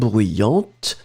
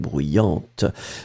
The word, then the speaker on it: bruyante: D'accord, you will pronounce this t in the end for the feminine. So bruyant and then bruyante.